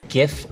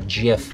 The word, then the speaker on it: GIF: So there are actually two legit pronunciations. GIF or GIF. The first one is GIF with a hard G sound, GIF. And the other one is GIF. GIF and GIF. Both are acceptable.